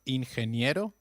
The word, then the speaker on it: ingeniero: Did you notice the pronunciation of ingeniero? G, when followed by E or I, takes up the sound of a stressed H.